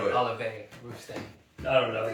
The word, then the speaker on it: Olivier: I thought it was Oliver. No, but it looks like Olivier or whatever. But it's French, right? So you can't just say it like a regular R and all that.